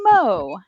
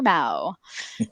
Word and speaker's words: Mo: That's my full name, Mo for short, please, and it's pronounced Mo, never Mao.